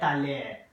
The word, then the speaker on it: allée: Okay, both the first one and the second one are pronounced like aller. Il est allé, elle est allée.